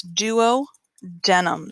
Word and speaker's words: duodenum: is known as the duodenum spelled exactly like it sounds duo denim sometimes you may hear